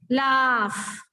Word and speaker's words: laugh: GH, don't go for GH. This is the last sound of this is f. Laugh.